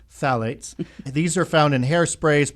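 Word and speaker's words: phthalates: One of the common ones out there are called phalates, spelled with a ph and then th. So, it's phalates, but it's actually pronounced phalates.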